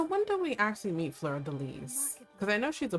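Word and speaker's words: fleur-de-lis: That's how you say it, Fleur de Lis.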